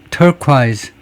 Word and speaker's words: turquoise: 영국식 발음도 똑같아요. turquise turquisequisequise라고 한다.